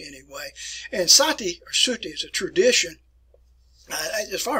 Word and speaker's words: sati: the indian practice here called satay satay and sometimes it's spelled that way in english anyway and sati is a tradition as